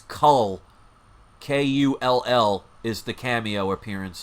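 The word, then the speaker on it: Kull: this is also the um cameo appearance of cull now some people mispronounce it and they write null but it's not null it's the first appearance of cull which is another barbarian so they are potentially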